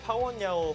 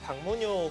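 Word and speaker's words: 朴文垚: 파야 9단 김명훈 3단입니다 한국 이제 팬 은 사실 파원 야오 9단보다 박문효 9단으로 많이 알고 계실 거예요 더 익숙하시죠네 하지만 뭐 저희는 이제 방송 관계상 정확한 이제 이름을 말씀해 드려야 되기 때문에 중국 발음인 파원 야오 9단으로 이야기를 하겠습니다 신예 기사 김명훈 3단과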